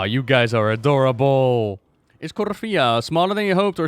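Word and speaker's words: Korthia: There's no accent or stress in the I on Cortia, so it's Corfia. Is it Corfia? Is that the way you pronounce it? Corfia?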